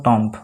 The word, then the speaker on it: tomb: ঠিক আছে ঠিক তেনেদৰে TOMB আমি কেনে ধৰণৰ উচ্চাৰণ কৰো টম্প কিন্তু টম্প নহয় টম ঠিক আছে ঠিক তেনেকুৱা ধৰণে